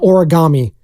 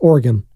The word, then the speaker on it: Oregon: Eric Armstead Oregon Oregon it's like no it's not origami it's Oregon it is up there